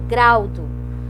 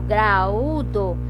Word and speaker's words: graúdo: Eu não falo graudo, eu falo graúdo.